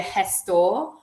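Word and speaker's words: gestor: there's something called A Hess store um the G is pronounced like a like a h and that's like an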